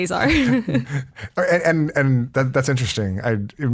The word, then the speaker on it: Azar: I mean, if he's speaking Arabic, it's pronounced differently, but when we're speaking English, we say Azar.